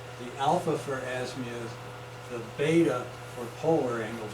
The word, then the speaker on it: beta: The alpha for azimuth, the beta for polar angle. Beta rhymes with theta, polar coordinates.